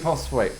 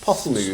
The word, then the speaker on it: Postlethwaite: How did we get Pete Postlethwaite? Pete Potts. Yeah. Yeah. I can never say his name. Pete Postlethwaite.